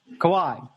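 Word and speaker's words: Kawhi: James Harden Kevin Durant Co CI Leonard I believe it's pronounced kawh Leonard kawhai okay kawh Leonard and Anthony Davis see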